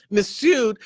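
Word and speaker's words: Mifsud: miss miss missud yeah missud this is when missud the f is silent this is when missud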